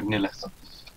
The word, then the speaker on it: Nilith: And Nilith, I think that's how you pronounce the name. You say it like Lilith, but with an N, so Nilith.